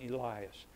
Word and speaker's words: Elias: was talking about Elijah New Testament pronunciation Elias no he was calling